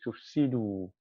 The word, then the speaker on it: تفسدوا: That alif is not pronounced. We will pronounce the waw. We would say tufsidu, la tufsidu.